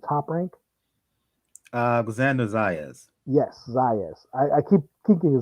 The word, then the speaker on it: Zayas: Yes, Zayas. I keep thinking Zayev, but this kid looks to be the goods.